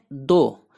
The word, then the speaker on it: though: THOUGH दो, इसको पढ़ते हैं दो अगरचे ताहम या गो। FEEL फील, फील महसूस करना या लगना। TALK टॉक, एल साइलेंट है टॉक, टॉक गुफ्तगू करना बात करना।